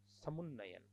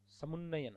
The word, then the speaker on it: समुन्नयन: समुन्नयन, समुन्नयन होता है।